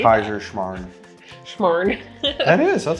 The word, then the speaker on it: Kaiserschmarrn: Kaiserschmarrn from Austria. I'm ready. Don't test me on my Mardi Gras food. Proud that you knew how to say Kaiserschmarrn.